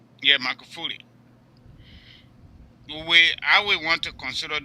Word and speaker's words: Magufuli: I'm not pronouncing the last name very well. Magufuli. Yeah, Magufuli.